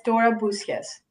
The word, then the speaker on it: Boussias: Is it correct pronunciation? Yeah, it's Dora Boussias.